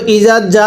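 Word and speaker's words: إِذَا: ইজা আ এই জায়গাটায় অনেকেই ভুল করি হয়তো ইজা পড়ি অথবা বা ইজা পড়ি এই জালকে কখনো জিম পড়া যাবে না।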